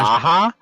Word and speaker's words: Aja: I'm not going to be able to pronounce David's last name correctly. David Aja. Aha.